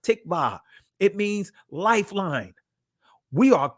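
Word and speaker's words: tikvah: Hope in the Israeli language is pronounced tikba.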